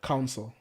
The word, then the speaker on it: counsel: helpful to me and to you we don't cancel each other council c-o-a-c-o-u-n-s-e-l council not cancel not snow not c-a-n-c-e-l